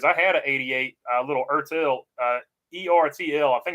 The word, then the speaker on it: ERTL: I think you pronounce it Ertel.